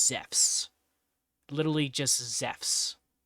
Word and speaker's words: Zeus: Literally just Zeffs. Z E FFS. Zeffs. That's how you say it in Greek.